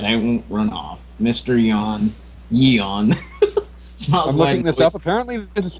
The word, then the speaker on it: Yeon: with word that I won't run off Mr yon Yon apparently this is pronounced the Box up into the counter pushing